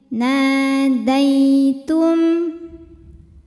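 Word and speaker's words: نَادَيْتُمْ: Ada hukum harfulin atau huruf lin. Sebab ada ya sukun didahului harokat fathah, maka dibacanya dilembutkan atau dilunakkan saja. Jadi jangan dipanjangkan. Nadaitum.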